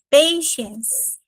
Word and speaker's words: patience: Aqui eu vou colocar a pronúncia peixe é como se fosse um peixe da ciência. Peixens.